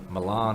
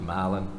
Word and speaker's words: Milan: h HST is pronounced Halston milin is brother Milan is pronounced milin and only in the state of Georgia could